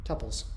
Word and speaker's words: tuple: out, and it's called tuples or tuples. Tuple. Yeah, just find the only way to fight the good fight. The pronunciation battle is make up your own. So it's tuple. Tuple. It's like bubbly.